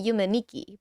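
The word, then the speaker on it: Yume 2kki: See, I actually I was reading like the name wrong because I realized that two in Japanese is ni. So it would still be Yume Nikki, but the two is like the second version.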